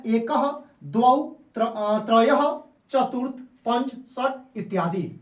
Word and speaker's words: द्वौ: याद रखिएगा, यह लिखा गया है द्वौ, लेकिन हम इसको उच्चारण करेंगे, शुद्ध उच्चारण करेंगे तो इसको हम कह सकते हैं द्वौ। क्या कहेंगे, द्वौ।